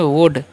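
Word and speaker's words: would: है ठीक है next W ओ यू एल डी तो पढ़ते हैं वुड एल जो है यहां पर साइलेंट होता है वुड मतलब क्या होता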